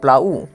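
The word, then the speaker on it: plough: আর ইউতে উ প্লাউ জি এইচ হচ্ছে silent চাষ করা তারপরে দেখো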